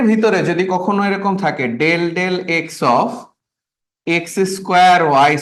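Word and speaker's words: ∂: কখনো যদি ডির বদলে ডেল ডেল থাকে ডেল ডেল এই অপারেটরটা এটাকে আমরা বলি হচ্ছে উচ্চারণ করি হচ্ছে ডেল ডেল এই অপারেটরটা যদি থাকে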